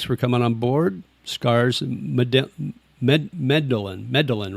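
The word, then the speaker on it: Medellín: Scars, Medellin, right? Is that how you pronounce it? Medellin? Yeah.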